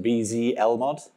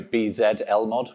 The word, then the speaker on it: Bzlmod: I've heard it pronounced Bzlmod, but I'm English, so Bzlmod would sound wrong. Bzlmod.